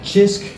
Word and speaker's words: Cisk: But, uh, so yeah, that's pretty much the review of uh Chisk. Again, it's a CISK, but you pronounce it with a It's not bad.